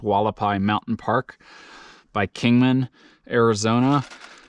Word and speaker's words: Hualapai: the wallapai or haapi I believe it's pronounced walapai Mountain Park by Kingman